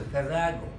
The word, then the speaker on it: farrago: It seems it's pronounced as farrago.